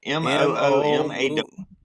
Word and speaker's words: Moomaw: Muma? M0. How would you say it? MOOMAW. Muma? Lake. Moomaw is how we pronounce it.